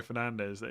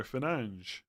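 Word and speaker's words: Fernandes: I'm just glad that like Yeah, I was just about to say I'm glad people don't moan about Bruno Fernandez. Oh, you should be saying Bruno Fernanch or Holland.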